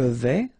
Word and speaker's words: vais: Je vais. Final S not pronounced here, and remember, when you combine this A and E together, you get the sound E, so really open. Je vais.